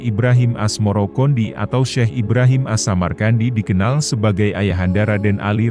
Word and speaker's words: Asmarakandi: Sebutan itu mengikuti pengucapan lidah Jawa dalam melafalkan Asamarkandi, yang kemudian berubah menjadi Asmarakandi.